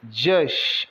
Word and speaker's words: just: dor mesmo I acabei just o J com o som de DJ o u com o som de a são muitas as vezes